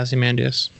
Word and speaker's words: Ozymandias: Yeah, Ozymandias.